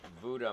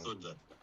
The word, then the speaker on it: Vuda: Yes, we have reservations at uh, Vuda Marina. I know I'm pronouncing that wrong. Vunda.